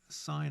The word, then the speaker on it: sine: This function here is it's pronounced sine theta. Now, it's spelled there sin, but that's just an abbreviation. It's not really pronounced sin or spelled sin. It's actually spelled sine with an E.